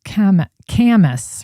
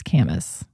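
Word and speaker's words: Kamas: By the way, somebody's mentioning, sorry to have made you curse to show you how to pronounce it's Camus, right? It's Camus.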